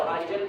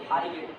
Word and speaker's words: eigen: अब ये प्रोनाउंसिएशन की बात है, कई लोग इसको आइजन कहते हैं, आइजन वैल्यू आइजन वेक्टर। अब ये ऐसा नहीं होता है, मैक्सिमम टाइम में इसका प्रोनाउंसिएशन ये होता है आइगन।